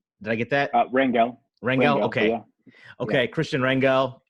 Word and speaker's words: Rangel: today's show I am joined by Kristian Rangel pronounced Christian I promised your last name right did I get that Ringo Ringo okay okay Christian Ringo and me maybe